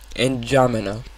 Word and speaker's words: N'Djamena: Yes, I do know how to pronounce its name. It's N'Djamena.